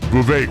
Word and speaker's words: Vivek: Vivek rhymes with cake.